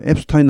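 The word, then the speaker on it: Epstein: 앱스틴 합니다.이 사람에 대해서는 물론 미국 사람 중에서도 앱스타인 하는 사람이 있습니다. 그건 어쩔 수 없습니다. 근데 대부분이 앱스틴 합니다.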